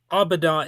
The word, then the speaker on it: Äbädä: The aboda is pronounced exactly like that. So, don't let all those little special characters fool you.